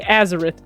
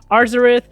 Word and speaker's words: Arzareth: alva and arzareth and yes there is an r in there i know a lot of people didn't pronounce that when the shoe first came out just kept saying azareth but there's an r so arzarith or xerath however you would like to pronounce it just make sure you add the r let's start this video